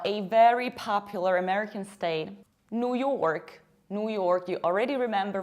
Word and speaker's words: New York: And as a result, you have New York. Pay attention to how much I pronounce r. York, New York. In British accent, we would say New York.